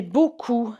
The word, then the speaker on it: beaucoup: It's that OU sound. OU makes an oo, oo. Okay, it's much deeper. It's in the throat. You should feel your voice box moving.